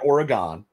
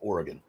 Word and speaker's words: Oregon: oh oh oh or it's not Oregon it's Oregon okay all right I